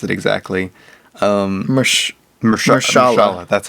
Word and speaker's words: Mahershala: I forget how to pronounce it exactly. Mahershala.